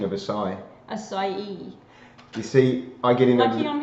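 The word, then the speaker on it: açaí: it was SAE and he was saying it's acai okay and I've seen both variations so well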